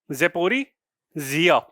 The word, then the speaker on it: Zaporizhzhia: और आपका न्यूक्लियर आपका प्लांट है ज़ेपोरिज़िनिया, ZAPORIZHZHIA, ज़ेपोरिज़िया। इस तरीके से आपका प्रोनाउंस कर सकते हैं, अगर पूरा याद भी